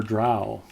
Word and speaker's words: drow: here's a fun question do you say Dro or drow I think we had this discussion one time and it came down to the guy who wrote the dress to Urban books pronounced at dro well he would know yeah although he didn't create